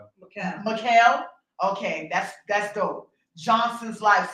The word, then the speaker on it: Mikhail: How do you pronounce his middle name? Mikhail.